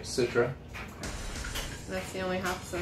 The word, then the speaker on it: Citra: well citra yes no you said it right citra that's the only hops in it a lot